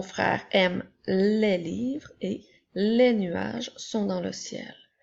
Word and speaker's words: les: s'écrit l e s le son e s lorsqu'il est placé à la fin d'un petit mot de trois lettres se prononce est donc elle qui fait es qui fait les nous avons les comme